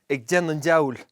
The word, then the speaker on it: ag déanamh: -" doing the devil" We usually leave out the "g" " A' déana'" Diabhal - devil Diabhail